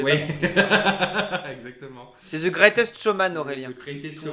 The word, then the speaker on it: The Greatest Showman: tu prononces tellement mal, j'avais Oui, pas compris. exactement. C'est The Greatest Showman, Aurélien.